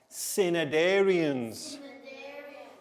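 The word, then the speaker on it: Cnidarians: i d a r i a n s cinedarians okay so the students when you get this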